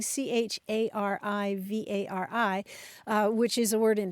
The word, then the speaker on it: charivari: Yeah, you mentioned the spelling charivari, which is a word in French that may be the source of it.